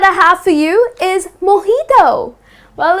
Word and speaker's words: mojito: yes it's delicious but people tend to pronounce it as mijito that's incorrect the correct pronunciation is most heat oh okay so instead of putting stress on the j like more dito that's incorrect you're gonna say mojito I'd have a glass